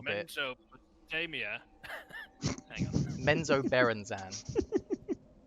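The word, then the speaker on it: Menzoberranzan: Menzo Berenzan is how you say it.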